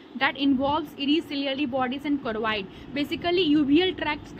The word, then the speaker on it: choroid: Uvea क्या होता है, यूविया जो होता है इट इज सीरियली बॉडीज और क्रोइड, यहाँ स्पेलिंग मिस्टेक है, CHOROID, जो क्रोइड होता है, ये तीनों को मिला के हम बोलते हैं यूविया, ठीक है।